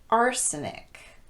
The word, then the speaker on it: arsenic: They're all stressed on the first syllable with the exception of the last one. Catholic, bishopric, politic, arsenic, lunatic, rhetoric, turmeric, and arithmetic.